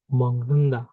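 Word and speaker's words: 먹는다: দিগতের উচ্চারণ হয়ে যায় নিয়নের মতো এবং বিয়োগের উচ্চারণ হয়ে যায় মিয়মের মতো। যেমন এটা দেখি, মগ নুন দানা হয়ে গেবে মংনুন্দা, মংনুন্দা।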